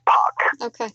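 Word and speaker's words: Park: usually uh in this country they spell the p-a-r-k the korean pronunciation is pog it's like p-o-c-k yes but sometimes when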